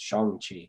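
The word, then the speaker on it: Shang-Chi: was corrected via the internet apparently it is pronounced song song oh yeah apparently according to the chinese it's shangchi okay um so shanghi and the legend of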